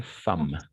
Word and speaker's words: femme: On va prononcer femme. La femme. Exact. Très bien. Âme, la femme, en effet.